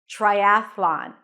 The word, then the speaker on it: triathlon: R try try again the T sounds a little bit like a CH sound or a lot like a CH sound try then a as in cat and a voiceless th triath and from the th you transition to the L Sound Triathlon with the Oz and father and then an N lawn Triathlon remember the transition